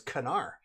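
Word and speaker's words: Knarr: in in the proper language and the proper pronunciation it's canar it's very embarrassing cuz when I went into the Board Game Cafe here and I said you mean Nar and they said no canar and I went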